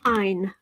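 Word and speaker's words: Ayn: her name is pronounced Ein like mine it was she named herself after a Scandinavian writer she admired and it's kind of fitting that it runs it rhymes with mine Warrior which says wait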